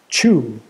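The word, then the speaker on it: Xu: by the way and I think it's supposed to be it's pronounced chew um she was born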